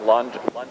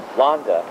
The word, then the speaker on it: Landes: It sounds like London, but it's Londa.